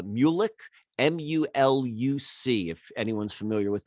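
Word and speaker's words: Muluc: was was for uh i think it's pronounced uh mulik m-u-l-u-c if anyone's familiar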